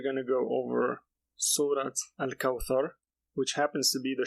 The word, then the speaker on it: الكوثر: So to pronounce the thar, you would put your tongue under your top teeth. So Al-Kawthar.